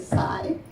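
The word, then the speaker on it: CIE: We call them the Psi crimes, C-I-E, but pronounced with a Psi, because you sigh every time they're committed.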